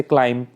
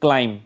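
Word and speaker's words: climb: सुनाई दे रही है और दो वर्ड्स वो हैं जिनमें बी की साउंड सुनाई नहीं दे रही जैसे क्लाइम ठीक है यहां पे बी की साउंड जो है वो नहीं आ रही है क्लाइम सिर्फ क्लाइम तक ही रहता है लेकिन बी इसके अंदर है बट वो साउंड नहीं कर रहा है उसी तरह डाउट ठीक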